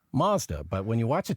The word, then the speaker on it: Mazda: i noticed you said mazda and that is the mazda is the official canadian pronunciation but elsewhere in the world it's mazda but when you watch